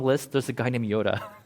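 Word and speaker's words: Joda: By the way, in that long list, there's a guy named Yoda. Spelled with a J, J-O-D-A, but it's like pronounced Yoda.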